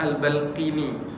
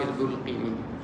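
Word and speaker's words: البلقيني: Kalau Dr. Abdul Syafi itu beliau membacanya Al-Balqini, kalau tidak salah bi fathil ba. Tapi saya membaca ke Syekh Abdullah Al-Qurashi dengan bidhammi al-ba, al-Imam Al-Bulqini.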